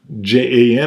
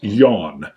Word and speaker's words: Jan: names men and women and yawn j-a-n or jan but it's yawn maybe it's yan yan so we have yan